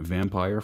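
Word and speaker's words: Vampyr: gonna be reviewing a vampire for cog connected here Vampir right I say that because it's spelled with a Y or right right that's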